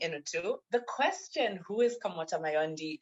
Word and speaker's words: Kamota Mayondi: Who is Kamota Mayondi? I hope I pronounced your name correctly.